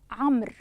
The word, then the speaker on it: عمرو: وأيضا لدينا الواو في كلمة عمرو بتسكين الميم، هي أيضا واو تكتب ولا تلفظ.